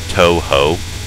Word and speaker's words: Touhou: talk about it, just the use of those two syllables, Touhou, and the person you're